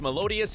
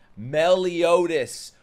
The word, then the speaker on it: Meliodas: More screaming with Melodious and the Seven- Melodious. Bro, sound it out. Meliodas. What's Melodious? That would be M-E-L-O-D-I-A-S.